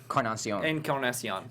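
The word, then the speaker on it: Encarnación: So no, well, Bautista, and how do you pronounce it? Is it Encarnacion? Encarnacion.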